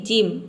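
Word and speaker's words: gym: यदि किसी वर्ड में जी के बाद इन तीनों लेटर में से कोई भी लेटर हो, ई आई वाई, तो वहाँ पे जी को हम ज प्रोनाउंस करते हैं। जैसे कि जिम, यहाँ पे देख सकते हैं जी के बाद वाई आया है, यहाँ पे वाई दिया है, तो जी का यहाँ पे ज हो जाएगा, आई का हो जाएगा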